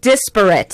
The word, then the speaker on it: disparate: Yeah, It was disparate. Disparate. That's correct. I apologize said desperate, and that's a whole different word.